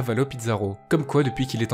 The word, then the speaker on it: Avalo Pizarro: effacée du monde extérieur il se pourrait que son os est un mot espagnol d'où la prononciation hispanique en effet à valleau